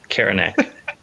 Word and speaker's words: Karanak: Yeah, well, Karanak. Like Karen. Nak.